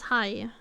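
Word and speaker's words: haj: Okay, well this one, you know, this is high. Hi. It's high. He's short. Short. Hi. Hi. Pronounced the same as hi, like saying hi.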